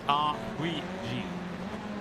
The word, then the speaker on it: R8G: We did get an answer, by the way, to the how do we pronounce R8G Esports? It's R3G Sports. So it's a French 8.